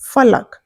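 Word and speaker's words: फ़लक: और यह बिंदु लिखने से यह फ का उच्चारण फ हो जाता है। जिसे हम बोलेंगे फलक।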